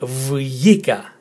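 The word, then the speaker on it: βγήκα: I as in fit, K as in kit, and A as in tag. So vjika, vjika. It is a bit difficult if you're not Greek to pronounce it, vjika, with the emphasis again on the letter E, vjika, which means I went out.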